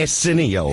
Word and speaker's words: Arsenio: I don't think you're pronouncing his name right. What is his name? Arsenio.